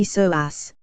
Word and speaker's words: psoas: often called the mighty so ass pronounced so a Zed for the many important